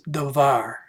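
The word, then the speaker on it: דָּבָר: day, and so this is a more modern pronunciation of the word. When I took Hebrew, I learned it as davar.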